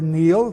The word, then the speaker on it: Niall: The Celtic race deals with Niall, N-I-U-L, or Neil, pronounced today, youngest son of Phineas, Pharsis, king of Scythia.